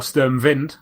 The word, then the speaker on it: Sturmwind: pink bullets Neo xyx sturmwind or sterm vind as Scott was quite apt to pronounce it and last but not